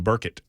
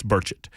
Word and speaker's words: Burchett: the show even though I mispronounced his name for the entirety of the first interview I ever had remember that on Tim Burkett uh that was not correct it's burchett uh 132 on super